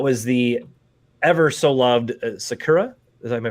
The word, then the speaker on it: Sakura: background and that was the ever so loved Sakura as I'm i pronouncing that right yeah yes and everybody pretty